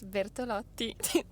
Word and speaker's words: Bertolotti: Okay, it's Bertolotti.